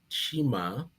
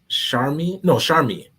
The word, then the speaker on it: Sharmi: We have 2 performances, one by Chima, or let me pronounce that right. Yeah, I'm pronouncing it wrong, but I apologize. It's Sharmi.